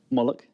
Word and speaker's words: Moloch: Moloch. No, you say it right. Is it Moloch? Moloch.